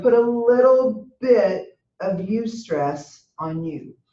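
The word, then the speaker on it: eustress: life you can have you stress which is spelled EU stre SS or you can have distress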